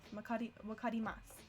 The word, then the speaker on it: わかります: Sue is usually pronounced Sue, except at the end of sentences like here. Then wakarimasu. Then the U sound kind of drops off. Wakarimasu.